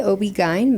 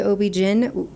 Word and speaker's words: OB-GYN: it in English residency we say Obi G but some people say Obi Jin people know what you're